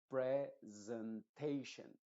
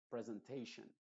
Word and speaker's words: presentation: mal en otras palabras tendría que decirlo presentation presentation recuerda termina en as asan una sh sh sh y después una n situation Transportation Transportation se